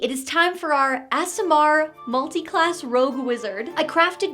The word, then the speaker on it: aasimar: ASMR. It really is ASMR.